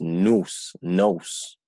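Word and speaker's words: νοῦς: Y dice, o sea, aquí la pronunciación es nous.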